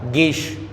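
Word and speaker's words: ङीष्: ये ड सोच के इसको आप डीश ना पढ़ें और इसको आप डीप ना पढ़ें, इसको आप गीप पढ़ेंगे, ना से अंग का उच्चारण होगा और इसको आप गीश पढ़ेंगे।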